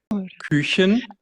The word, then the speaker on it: Küchen: Küchen, Kuchen.